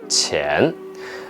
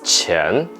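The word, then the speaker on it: 前: I'll break it out the pinging is Q I a in ten with the second tone Chan actually if you pronounce chin I would think of another character money because teacher energy lost money so if you say Chan I don't think of in front or before I think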